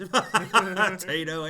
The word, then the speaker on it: Taito: Taito? How do you say it? I say it both ways. Taito and Taito, whichever way the mood strikes.